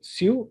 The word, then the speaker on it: CIIU: Trabajo en alturas de su actividad según el código SIU y FERNEI. SIU se escribe CIIU.